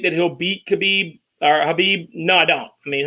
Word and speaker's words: Khabib: And actually, I guess the right way to say it is Habib.